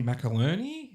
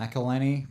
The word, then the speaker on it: McElhenney: Macaroni? Is that how you pronounce it? McElhenney. Yeah. Yeah.